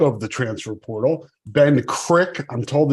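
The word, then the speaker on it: Krikke: the transfer portal Ben Crick I'm told it's pronounced crit the E is silent uh he is a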